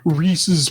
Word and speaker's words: Reese's: And uh I've been trying to be better about pronouncing Reese's like like you're supposed to because it's actually you know somebody's name as opposed to saying Reesei like I've been saying all my entire life.